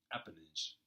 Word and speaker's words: appanage: Appanage. That's how you pronounce it.